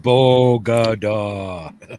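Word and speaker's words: Bogotá: that it's pronounced bogada it was bogota was talking about like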